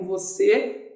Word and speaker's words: você: de colocar o acento Então você é uma palavra que tem acento e a um acento circunflexo e isso acontece porque como eu falava significa aqui a sílaba tônica ela se localiza na última posição Então não esquece escreve